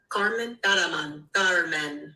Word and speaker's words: Kármán: Kármán.